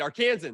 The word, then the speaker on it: Arkansan: Arkansas a lifelong how do you say it arkansan there we go Arkansas Nick has done political